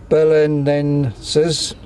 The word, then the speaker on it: Belenenses: Is it Belenenses, SAD? Did I pronounce that right?